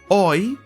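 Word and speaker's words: hoy: i have to go oi means today do not pronounce the h the h is silent another example i have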